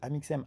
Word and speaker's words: Amixem: CIN fois pour me demander attends ça se prononce comment amixem et je disais amixem amixem amixem il était crevé il était au